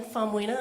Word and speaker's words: Faumuina: Yes, my name is Faumunia, and I'm employed with the Utah Department of Public Safety.